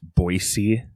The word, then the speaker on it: Boise: You know it's actually pronounced Boise?